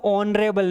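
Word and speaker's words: honorable: तो इसको रीड करते हैं ऑनरेबल नहीं कि ऑनरेबल। इसमें एज साइलेंट जैसे हम बोलते हैं ऑनेस्ट उस टाइप से।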